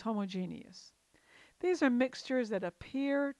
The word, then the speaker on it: homogeneous: Homogeneous mixture, sometimes called homogeneous, but I believe the more common pronunciation is homogeneous.